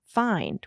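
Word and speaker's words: Fynd: So Mark and Rich started a food company called Nature's Find, where find is spelled F-Y for Fusarium Yes. of Yellowstone, N-D.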